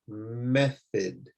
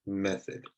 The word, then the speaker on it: method: and this one is method. So you can see that they don't make the typical sounds that you might think they would make. Instead of that, they make an I sound, bonus, focus, method.